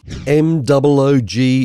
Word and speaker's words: Moog: M-O-O-G is pronounced Moog, which is why this is called the Moogerfooger effects bundle.